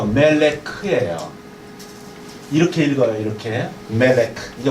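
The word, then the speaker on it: מֶלֶךְ: 그 다음에 조금 좀 까다롭지만 요게 리을 발음이에요. 리을. 요게 르. 요거에 다시 요거 붙으면 멜레야. 멜레크. 히브리어는 이렇게 쓴다는 거 아시죠? 히브리어는 이렇게 써요. 멜레크.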